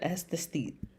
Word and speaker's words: aesthete: And what's the aesthete? Aesthete. Aesthete. Aesthete. Aesthete. 2 syllables.